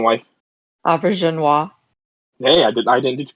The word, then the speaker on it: Auberjonois: I was hoping it was going to be Odo or somebody who was because Renee Auberjonois. Can you correct me on the pronunciation, wife? Auberjonois.